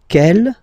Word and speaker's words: quelle: And then the feminine form is written like that, Q-U-E-L-L-E, but it's pronounced like the masculine form. Quel at the masculine, quel at the feminine. Okay, so it's basically same pronunciation.